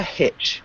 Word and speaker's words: hitch: So, I saw a hitch. Hitchhike. Can you repeat hitch? Hitch. Yeah. It's a hard one to pronounce, that TCH sound.